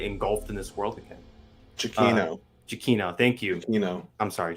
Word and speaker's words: Giacchino: Giacchino. Thank you. Giacchino. I'm sorry, Giacchino. Giacchino. The A is silent apparently, and the H. Amongst other letters. Yeah. And one of the C's.